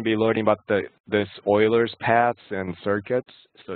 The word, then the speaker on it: Euler: we're going to be learning about the this euler's paths and circuits so it's spelled e-u-l-e-r but it's pronounced euler basically the